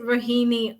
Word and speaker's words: Rohini: and your name correctly is it rohini makawana you have yeah really like bikini ah brilliant so I